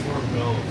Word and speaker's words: orgone: It's actually pronounced orgone.